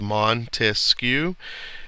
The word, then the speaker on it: Montesquieu: pursuit of happiness Montesquieu we remember that it's got three syllables Montesquieu and those stand for the three